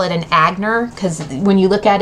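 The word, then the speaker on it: Aigner: you look at it it's spelled a a i g n e r so when you think about it if you don't know how to pronounce it in the language you can you call it you know in American it would be agner so we always joked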